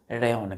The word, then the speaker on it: rayon: अब किसी भी रेयॉन को तैयार करने के लिए इसको प्रोनाउंसिएशन क्या करते हैं हम? रेयॉन। क्या पढ़ेंगे बच्चों इसको? RAYON, रेयॉन। तो किसी भी रेयॉन को तैयार करने के लिए हमें सेल्यूलोज चाहिए, है ना?